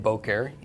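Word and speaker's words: בוקר: so Bo care or actually the emphasis is on the first syllable so it is Bo care Bo care and Bo care is morning okay so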